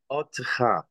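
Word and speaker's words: אוֹתְךָ: Never take a stress. Yes. Otecha. Otecha. Yes, because a long vowel O. Long vowel O, exactly. This is an unstressed long vowel. It should be in an open syllable. Yeah. Which means that's the end of the syllable. This starts the syllable, therefore it is audible.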